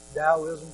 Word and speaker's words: Taoism: Hinduism, Zen Buddhism, Taoism, pronounced with the D but spelled with a T, which is a monistic, distinctionless worldview.